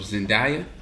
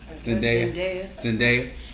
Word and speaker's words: Zendaya: She goes by the name of Zendaya. She's in a whole lot of Disney movies. Did I pronounce her name right? Zendaya.